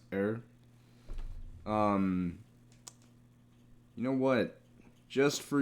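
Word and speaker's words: Herr: Because I know in German, the H-E-R-R part is pronounced er.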